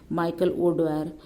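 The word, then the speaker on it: Michael O'Dwyer: अच्छा, कितना इस जनरल डायर हम लोग लगा देते हैं, इसने उत्तर मारा है माइकल ओ ड्वायर। तो ये सही प्रोनाउंसिएशन का था, तो इसको ये उत्तर माना गया है।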